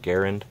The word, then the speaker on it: Garand: dan Wesson Thompson rising garand and pronounced with air and so as I should be saying garand Johnson stoner Barrett and